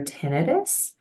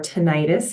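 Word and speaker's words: tinnitus: offer um therapies for tenus and T sound tolerance issues so idus for those of you who don't know or tenius is pronunciation that's also correct um that is when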